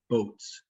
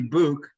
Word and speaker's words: Bouc: my last name because it's pronounced exactly how it's spelled boats makes no sense it should be book uh i think it's